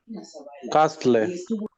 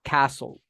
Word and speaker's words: castle: a place a building it is a building Costless very good the pronunciation of this is Castle Castle very good Castle number three Daniel Hernandez